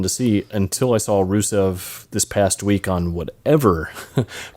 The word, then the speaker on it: Rusev: Yep, Rusev.